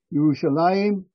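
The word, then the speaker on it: ירושלים: Yerushalayim, the Jewish pronunciation, the Hebrew pronunciation, Al-Quds, the Arabic pronunciation,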